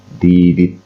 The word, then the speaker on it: didit: Dua dit yang berdampingan dilafazkan menjadi didit.